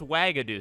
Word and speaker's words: Wagadu: So by the way, the official pronunciation on Pottermore is Wagadu, so I don't want to hear anything that I got that one wrong.